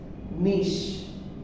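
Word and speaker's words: niche: আচ্ছা, নিশ, এই ওয়ার্ডটার উচ্চারণ হচ্ছে নিশ।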